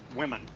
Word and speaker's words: women: Women. A woman, woman, woman, woman, una mujer, a woman. Y su plural, women, women. La pronunciación también cambia, women, women, women.